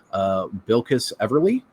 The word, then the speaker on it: Bilquis Everly: Like Steve mentioned, written by Tom King with art by, let me pull up the pronunciation, Bilquis Everly.